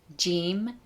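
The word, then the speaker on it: جیم: Persian leather is named Jim and it is pronounced Je J J like in the beginning of the word Jeep in English or the letter J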